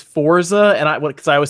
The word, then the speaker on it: Forza: That's like the people who tell me it's Forza, and because I always say Forza. I'm like, no, it's Forza. Everybody corrects me all. Yeah, no, it's supposed to be Forza because it's Italian, right? Like pizza, Forza.